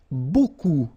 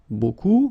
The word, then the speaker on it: beaucoup: If you want to use beaucoup, beaucoup means a lot of. It looks a bit strange, huh? Beaucoup, like that. Remember, you don't pronounce the final P, okay?